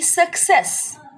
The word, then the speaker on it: success: the cases of C first C is followed by C again so it is going to give the sound of Cur hard sound suck the other C is pronunciated as sir soft sound because it is followed by E so it will be success I hope the very